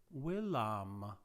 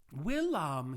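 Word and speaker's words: villam: to keep in mind a latin v is pronounced as a w sound the painter comes to the house now notice something very interesting what case is the word wilam that's right it's accusative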